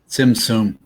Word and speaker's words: Tzimtzum: like the emanations of the, how do you pronounce that? Zimzum? Okay. And what is a zimzum? Tzimtzum.